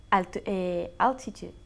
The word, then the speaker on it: Altitude: Altitude. Eso es, por eso yo dije alti. Like we say altitude. ¿Ok? Altitude. Pero la T-U-D-E se pronuncia como una CH. Tude. Tude. Altitude.